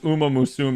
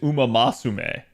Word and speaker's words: Uma Musume: Again, like I said, chat, like when they literally announced these, they mispronounced Uma Musume as Uma Masume.